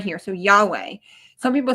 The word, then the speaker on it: Yahweh: So Yahweh. Some people say Yhovah or Jehovah.